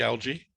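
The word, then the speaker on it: ALGEE: is in distress um the acronym is spelled a l g e e like algae yes the first a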